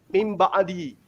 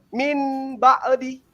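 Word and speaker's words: مِنْ بَعْدِ: Ya, seperti iklab misalnya mim ba'di atau mambihal, itu tidak boleh kemudian membacanya min ba'di, tapi harus membacanya mim ba'di. Nun mati hilang menjadi ba, itu iklab.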